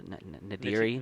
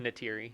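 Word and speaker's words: Neytiri: No, her character Nadiri. Natiri.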